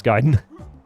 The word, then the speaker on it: Gaiden: That's the first time I hear an English speaker correctly pronounce Gaiden.